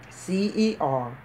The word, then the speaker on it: certiorari: And that word certiorari, it is spelled C-E-R-T-I-O-R-A-R-I. And I'm pronouncing it certiorari. And that is how it is pronounced.